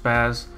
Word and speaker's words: SPAZ: fighters and zombies um it's pronounced spaz it's a indie game